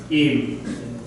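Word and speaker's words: עִם: So this is silent. I am. Im.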